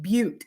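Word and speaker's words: Butte: there could be fluffies because that is actually pronounced but and that's but Montana um but Montana and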